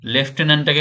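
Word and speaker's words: lieutenant: লেটুনেন্ড লেফটেনন্ড লেফটেনন্টটাকে বলা হয় বানানোর সুবিধার্থে আমি লেটুনেন্ড বললাম তো এন্সারটা দেখো বি হবে লেফটেনন্ট লেফটেন বানানটা হবে এরকম উচ্চারণ হবে আলাদা কিন্তু বানান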